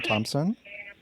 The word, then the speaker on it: Thompson: Like I said, my name is Thompson. Mm-hmm. It's with 1 R. Okay. Thompson with a silent H.